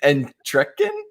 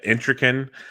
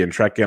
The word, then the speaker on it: Entrekin: right and trekkin it's not bad that's close it was close okay yeah i've had it pronounced in many many ways uh intricate but i've heard i've heard the intrekin i've heard uh much much worse so you're very close all right all right